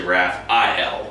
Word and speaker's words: Raphael: It's actually Raphael. Oh, okay. It's spelled A-E-L though.